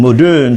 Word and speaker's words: moderne: Norman used the French pronunciation, moderne, so the whole effect was got.